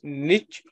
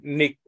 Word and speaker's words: niche: habitat for them then the word is Niche or Nick both are okay one is British pronunciation worth in American so you can say knit ornish so that is the role